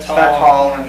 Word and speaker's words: Svetol: Today we're going to talk to you guys about green coffee bean extract, specifically Svital. Is that how you say it? Svital or Svetol. Svetol, yeah. However you want to pronounce it.